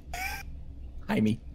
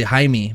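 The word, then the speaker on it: Hymie: such weird names that are so dead now hi me jaime h-y-m-i-e john i've literally never met one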